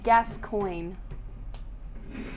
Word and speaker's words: Gascoigne: probably probably for losing so it's gas coin this coin lost I